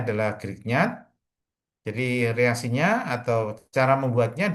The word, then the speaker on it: Grignard: Jadi ini bacanya adalah Grignard.